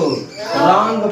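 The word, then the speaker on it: wrong: लेकिन अपने भाषा में, जैसे यूज वाले भाषा में हम क्या पढ़ते हैं, इसको रंग पढ़ते हैं।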